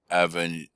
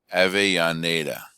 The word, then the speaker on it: Avellaneda: One such woman who was a Cuban, Gertrudis Gomez de Avellaneda. No, I pronounced that wrong. Avellaneda. Gertrudis Gomez de Avellaneda.